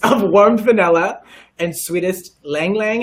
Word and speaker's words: ylang ylang: okay air currents I want vanilla and sweetest ylang ylang how do you pronounce that word right you did it okay